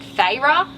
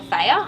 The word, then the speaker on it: Feyre: In the book they pronounce it Feyre, but I didn't like that, so I called her Feyre.